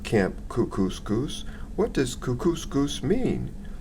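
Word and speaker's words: Kookooskoos: camp anyway welcome to Camp cuscus it rhymes with moose that's another good thing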